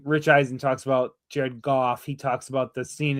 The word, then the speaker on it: Goff: And every time Rich Eisen talks about Jared Goff, he talks about the scene in Cattyshack where Judge Smell says it's they pronounce it golf without the L.